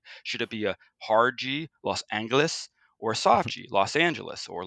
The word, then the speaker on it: Los Angeles: who spoke Spanish so they use the Spanish pronunciation of the city Los Angeles and that's the way